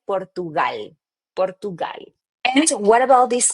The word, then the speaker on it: Portugal: So in English you would say Portugal but in Spanish we say Portugal.